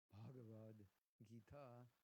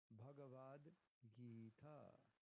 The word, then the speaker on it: Bhagavad Gita: It means a long I and a long A, and an H, which is not Bhagavad, Bhagavad Gita.